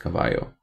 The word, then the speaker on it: Cavallo: I think in Italian it's pronounced Cavallo.